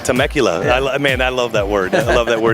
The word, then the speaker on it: Temecula: Temecula. Temecula.